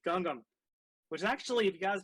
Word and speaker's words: Gangnam: much for Gangnam Style what really annoys me is when someone pronounces that and they keep calling it Gangnam Style and I'm like no that is not pronounced properly it is Gangnam which actually if you